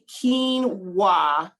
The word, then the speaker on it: quinoa: Neato so like k-e-e-n it's spelled q-u-i but it's pronounced like k-e-e-n so just say quinoa